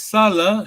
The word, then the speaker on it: Salah: See, this is Salah, short vowel, yes? To work. Mhm. As soon as you make it long vowel, it becomes Sala.